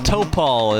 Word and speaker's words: Topal: Topal is the way I was told to pronounce it, Bobby.